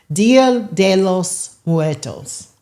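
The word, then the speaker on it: Día de los Muertos: D loss muertos is how you pronounce it.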